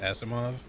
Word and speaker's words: Asimov: or ASMR but like I'm pretty sure Isaac Asimov is pronounced Asimov I don't know the